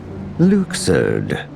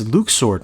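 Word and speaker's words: Luxord: are we striding towards Luker oh it's Luke sword now all right you're the boss I'll be sure to correct my pronunciation he tells vexin to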